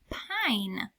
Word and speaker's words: pine: This word is pine. P-I-N. There's that E. That E told me that it's going to make I say its name.